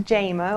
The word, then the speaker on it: Jama: It's pronounced Jayma, like Jamie, but I grew up in a small town, Marion, Virginia.